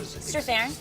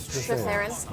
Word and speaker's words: Strathairn: Strathairn. Strathairn.